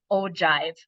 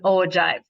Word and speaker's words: ogive: relative frequency numbers and these are pronounced as an ogive I did kind of write that in our notes here um it is an ogive okay so we're going